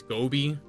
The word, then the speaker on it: Gobi: I'm saying I'm saying gobby, right? It's Gobi.